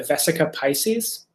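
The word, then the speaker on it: vesica piscis: um form of the the vesica pisces or the vesica piscus i guess would be better pronounced um which is a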